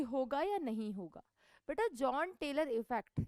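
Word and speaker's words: Jahn: यान टेलर बोलते हैं करेक्ट प्रोनाउंसिएशन, हम इसे जॉन टेलर बोल देते हैं.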